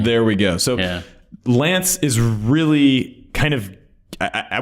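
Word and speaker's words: LAANC: it's spelled laa NC it's actually not an acronym well I guess it is an acronym right because you can pronounce it as Lance but it's technically maybe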